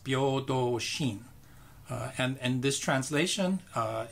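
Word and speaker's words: 平等心: In Japanese, the characters are pronounced Byodo Shin.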